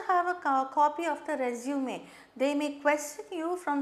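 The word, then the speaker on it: résumé: This is a French word with an accent, so we pronounce it as resume.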